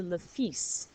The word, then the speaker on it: le fils: All right, so now we're going to skip over les enfants for a moment to le fils. It looks like Phil's.